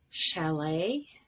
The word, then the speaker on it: chalet: t gets pronounced but a t at the very end is usually silent and we have borrowed the word with sort of french pronunciation with the stress at the end for example ballet chalet gourmet coup d'etat debut and rapport and this is different